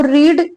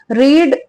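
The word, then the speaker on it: read: कि क्रिया है पढ़ने का काम है तो रीड एक ऐसा वर्ब है जिसकी वन टू थ्र न तीनों फॉर्म जो होती है ना व सेम होती है ठीक है रीड रेड रेड spelling same है सब कुछ सेम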